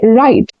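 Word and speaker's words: write: WR, जब भी WR साथ में आते हैं तो वहां पर W की जो साउंड है वो नहीं आती, साइलेंट होता है, जैसे राइट, रॉन्ग, रिस्ट, रैप।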